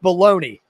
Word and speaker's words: bologna: yeah for sure ray of bologna is pronounced baloney yes it is and and where's